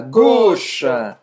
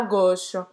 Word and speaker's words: gauche: Tourner à gauche. Esquerda, gauche, tourner à gauche. Tourner à gauche. À gauche. Então, aqui o som de A, U, tem o som de O.